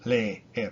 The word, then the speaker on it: leer: Like the verb to read, leer, leer. It's e, leer, leer. It's not le, er, even though there's two e's in it. Le, er.